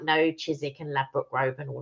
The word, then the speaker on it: Chiswick: today for honest burger oh nice chisik oh chisik not Chiswick I put sorry it's spelled Chiswick but it's chis I've never heard